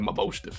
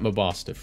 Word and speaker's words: Mabosstiff: All right, so verdict's out on how to actually pronounce this Pokemon's name, but I like MABOSSTIFF, so. MABOSSTIFF. Well, it's like mob, boss, but like mastiff.